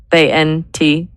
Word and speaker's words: ANTU: ANTU, 2 syllables. It's cute. It's worker focused. Does onto feel? How do you spell it? Yeah, ANTU. It sounds a bit like ant, but it's its own thing.